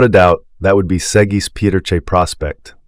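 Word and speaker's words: Segis Pieterje Prospect: famous cow without a doubt that would be seis Peter Prospect pronounced seis petera Prospect affectionately known as posum sweetheart she embodied everything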